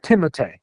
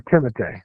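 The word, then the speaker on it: Timothée: um Timothy Shalamé and Lil his name is Timote. What? Name Timote. Yeah, you didn't know that his name is Timote.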